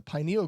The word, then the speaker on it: pineal: It's photoreceptive and associated with the pineal gland. Ooh. Pineal. Epithalamus and pineal, but yes, otherwise very good. All right, no points awarded. And this is correcting your pronunciation.